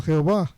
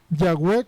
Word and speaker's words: Yahweh: Eruditos hebreos generalmente favorecen Yahweh como la pronunciación más probable.